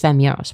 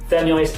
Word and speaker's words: Femyoz: Oh, I'm I am Well, you didn't pronounce my name correctly. It's Femos. But I digress. People like myself. Femis is a fem hell.